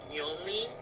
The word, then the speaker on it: Yonly: Hi everyone, I'm Yonly. I just go by Yonly. That's my name. That's how you pronounce it.